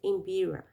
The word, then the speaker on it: mbira: Que é esse instrumento, ó, Imbira, que se pronuncia Imbira.